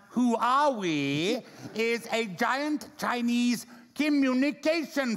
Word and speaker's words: Huawei: this one completely wrong Huawei pronounced who are we is a giant Chinese